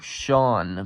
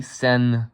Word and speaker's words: Sen: Tennessine wasn't discovered yet, because most people are mistaking me for Sean Power HV, when it's really Sen Power HV, like Sen, the rhyme with 10, short for tennessine, like periodic element right there, onion septium.